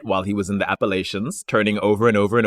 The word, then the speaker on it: Appalachia: don't know it is Appalachians oh is it Appalachians people from Appalachia are very particular about the pronunciation so the way to remember it is I'll throw an Apple at you Appalachia oh I was going